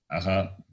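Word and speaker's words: अः: Visarga, that is the colon to the vowel a becomes aha. To the letter, to the vowel a, Visarga is added and it is pronounced as aha.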